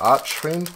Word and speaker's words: Archfiend: We are blasting through into another Mimighoul Archfiend, or Archfiend. I guess it's Arch. You pronounce the ch because there's no E on the end, but then...